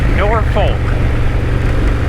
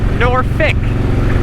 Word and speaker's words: Norfolk: is not from Virginia, you're probably gonna pronounce it nor folk. Uh maybe if you're from Virginia, like you lived in Norfolk at one point, you call it Norfick, like with an I.